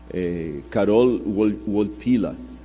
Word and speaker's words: Karol Wojtyła: E o Karol Wojtyła, esses dias eu pedi a alguém que fala polonês para me corrigir a pronúncia, Karol Wojtyła, que era o nome do Papa, ele sofreu muito na mão do comunismo na época da Polônia.